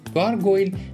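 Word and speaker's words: gargoyle: مثال رو ببینید مجسمه های نسبتا خراب شده آبپران‌ها در جای جای بنای مخلوبه ریخته شده بود دقت کنید این کلمه گارگویلو به اشتباه اون خانم گارگل متوجه داری مسخرهم میکنی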